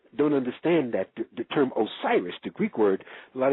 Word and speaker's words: Osiris: Hakim was the only one who ever came up with the pronunciation Wizir for Osiris, where the word wisdom and wizard comes from.